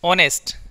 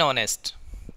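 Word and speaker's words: honest: ऑनेस्ट, इसमें भी H silent रहेगा, एन ऑनेस्ट, क्या कहेंगे, एन ऑनेस्ट, इसमें भी जो साउंड प्रोड्यूस हो रहा है वो किसका, ऑनेस्ट।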